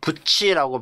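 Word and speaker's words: 쇠붙이: 성으로 이렇게 전동리 그다음에 쇠부치 할 때도 오이 세자 그다음 발음은 부치라고 발음 나지만 표기는 붓이 이거 왜 그렇죠 구의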